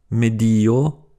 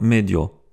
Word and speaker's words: medio: 2 voyelles qui se suivent font partie de 2 syllabes différentes comme dans « environnement »,« medio » et pas « medio ».